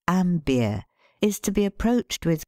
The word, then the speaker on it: Amber: Amber, pronounced Ambier, is to be approached